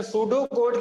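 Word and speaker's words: pseudocode: टी से start नहीं होता, एस से स्टार्ट होता है। सूडो कोड, ई की साउंड भी नहीं आती इसमें।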